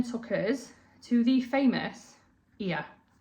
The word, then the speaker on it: Oia: It took us back to port, where a coach then took us to the famous Ia. It's spelled O-I-A, but it's pronounced Ia.